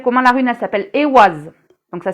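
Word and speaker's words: Eihwaz: interprétations elle s'appelle comment la rune elle s'appelle e was donc ça s'écrit e I h W a Z e was et euh ça se dit comme ça se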